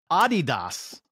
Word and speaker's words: Adidas: and if I was say it correctly it's Adidas is the way that it's pronounced it's Adidas yeah for an unsponsored athlete